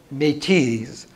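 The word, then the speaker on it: Métis: in her marriage to me tease the if you put in a z at the end which is really silent and is your French pronunciation but metis were have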